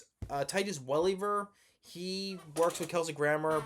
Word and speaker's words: Welliver: Titus Welliver, mispronounced his last name. Titus Welliver.